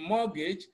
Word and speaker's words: mortgage: at the remaining options option C is mortgage even though you have t in mortgage T is silent in D we have